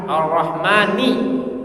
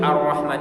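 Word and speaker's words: الرحمن: ini rata saya mencermati huruf ro yang ada di Alfatihah itu tafkhim semua kecuali yang di Arrahman ini saja Arrahman sisanya R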